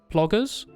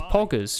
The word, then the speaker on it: poggers: That's mad ploggers? Almost, Shenhei. It's poggers, Shenhei, you see. Pronounce it with me.